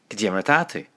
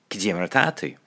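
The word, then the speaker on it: Cad é mar atá tú: Yeah, Kajimratatu. Kajimratatu.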